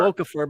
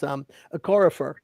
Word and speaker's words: Okorafor: Yeah, I want to call him Okafor because that was the played on UConn, but it's Okorafor.